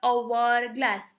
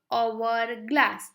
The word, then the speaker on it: hourglass: Because the pronunciation is the hourglass. Hour. H जो है वो साइलेंट है. प्रोनाउंसिएशन साउंड कौन सा आ रहा है पहले, वोवेल. hourglass.